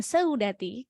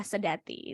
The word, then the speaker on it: Seudati: Cara bacanya bukan seudati karena ini monoftong, bacanya adalah sedati seperti itu.